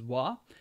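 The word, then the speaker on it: は: there just know that that ha is pronounced as wah and that I will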